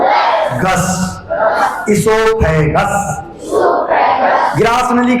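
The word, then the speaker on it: oesophagus: फ जी यू एस जी यू एस गस इससोफेगस इससोफेगस grass नली के लिए इंग्लिश में क्या कहेंगे इससोफेगस इससोफेगस वो साइलेंट रहेगा दिमाग में रखो स्पेलिंग फिर बता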